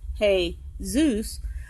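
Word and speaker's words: Jesús: 1600s look it up like the Spanish name Jesus being pronounced he Zeus but spelled like the English name Jesus meow spelling means nothing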